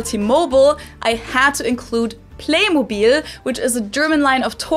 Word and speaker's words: Playmobil: did it with T-Mobile, they kept the German pronunciation of it for the American market too. In the US commercials, they call it Playmobil as well, even though in everyday life, I've also heard Americans pronounce it as Playmobil, which sounds very different and somewhat wrong.